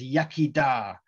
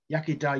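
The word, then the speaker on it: iechyd da: thank you very much another good one is yakida yakida you say when you cheers somebody's drink in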